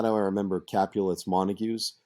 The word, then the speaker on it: Capulet: And if you're wondering, how do I remember Capulet's Montagues? It's Juliet Capulet. So it rhymes.